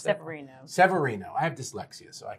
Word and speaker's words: Severino: And I pronounced Severino. That? Severino.